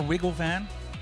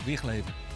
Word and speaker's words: Wigleven: So guys at home, if you ever wonder how you should pronounce the guy's last name, it's not Wigglevan, it's Wigleven.